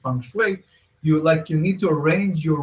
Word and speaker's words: feng shui: It's called flip feng shui because, you know, feng shui is like the art of, it's actually pronounced feng shui.